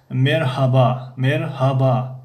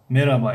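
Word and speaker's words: Merhaba: مرحبا یعنی همون ه رو یا نمیخوانن یا تماما تنک تلفظ میکنن که نمایان نیست.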